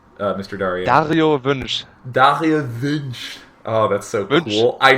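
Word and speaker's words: Dario Wünsch: Dario Vinch.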